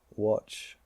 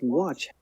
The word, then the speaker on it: watch: it's not you know watch is spelled with an A but it's actually pronounced with an O so I'm going to add in the o just what watch and we want let's